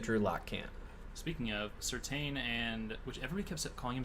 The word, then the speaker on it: Surtain: So it is pronounced Surtain, so we have been saying it incorrectly. I kind of hate that, but sorry, Surtain.